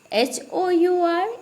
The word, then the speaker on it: hour: HOUR is also R. OUR is also R and HOUR is also R.